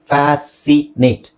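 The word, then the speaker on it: fascinate: ಇಲ್ಲಿ ಸೆಂಟ್ ಇದೆ ನೋಡಿ, ಇಲ್ಲಿ ಫ್ಯಾಸಿನೇಟ್, ಸಿ ಸೈಲೆಂಟ್ ಆಗಿರುತ್ತೆ. Even sense.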